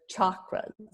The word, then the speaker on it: chakra: of our pronunciation so ch as in the chakras is always pronounced cha like chalk I know some people say chakras but they're chakras and then the b-h-a is